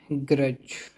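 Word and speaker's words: grudge: गुर्राना यह है ग्रज। इसमें डी साइलेंट है। ग्रज ग्रज नहीं तुम्हें लगता होगा कि डी आ रहा है। गज तेजी से पढ़ेंगे तो डी आ रहा है लेकिन डी आ नहीं रहा है। ग्रज है। साइलेंट है।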